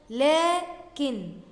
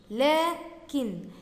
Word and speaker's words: لكن: وممكن نضيف للكلمات دي برضو كلمة مهمة جدا بنتملاها كتير، هي كلمة لكن، لكن، لكن بعد اللام برضو في ألف تنطق ولا تكتب.